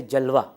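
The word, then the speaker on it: جلوہ: एक हे वो है जो इस्तेमाल तो है लेकिन उसकी आवाज नहीं आती वो साइलेंट होता है वो जैसे जलवा जलवा आप कहते हैं तो वो अलिफ की आवाज आ रही है आखिर में लेकिन वह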